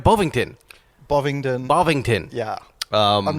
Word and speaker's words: Bovingdon: Bovingdon.